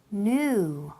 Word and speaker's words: knew: So the verb to know, y pasado, past simple, knew. Okay, it sounds exactly the same as the word new como nuevo.